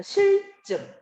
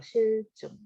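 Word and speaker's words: 싫증: 자, 기억부터 미음 이해한 내용으로 적절하지 않은 것은 자, 실증. 자, 발음을 해볼게요. 실증. 자, 의미를 효과적으로 전달하기 위해 첫 글자의 형태를 고정한다. 고정이 되어 있죠. 발음은 실이야. 근데 표기는 요렇게 쓰죠.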